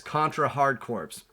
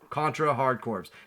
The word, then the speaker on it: Contra Hard Corps: time, and that is Contra Hard Corps. And yes, I say corpse, not core.